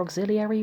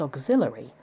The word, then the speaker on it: auxiliary: (Incidentally, it seems to me that this word is often mispronounced 'auxillary'; I wonder if this is due to its similarity in both spelling and meaning to 'ancillary'.)